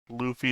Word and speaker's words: Luffy: got used to saying Luffy and so I just say it as I think it should be pronounced and I'm wrong I mean we gave you a pneumonic Luffy is Goofy and I do want